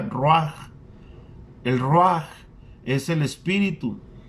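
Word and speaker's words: רוח: escucha, el término espíritu viene de una palabra hebrea que se pronuncia ruach.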